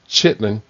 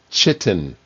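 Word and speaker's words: chitin: A natural polymer derived from chitlin. It is not the word chitlin. L slipped in there. I saw it coming up and I said I'm not going to pronounce the L. It derived from chittin, ch hi t i n.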